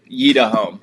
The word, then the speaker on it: Yitahom: I just want to check in Oh, it's spelled Yeda Home. All right, third try's a charm, we got it. Yeda Home.